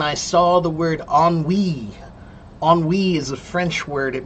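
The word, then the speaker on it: ennui: Oni is a French word. It means like boredom and I and it's spelled very strange.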